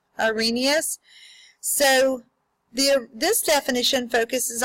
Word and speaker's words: Arrhenius: look at the arrhenius we're going to pronounce that a green e us Arrhenius so the this definition